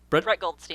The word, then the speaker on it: Brett Goldstein: Brett Goldstein.